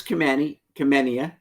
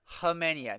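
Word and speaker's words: Khamenia: So Nicholas Kumenia. No. Hemenia. No K. K silent.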